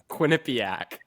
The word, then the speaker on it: Quinnipiac: How do you pronounce it? Quinnipiac.